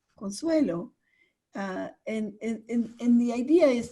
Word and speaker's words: Consuelo: a teacher for example I'm Consuelo and people want to automatically make me a Consuela because I'm a female so I very much you know in a gentle diplomatic way say my name is Consuelo and in the idea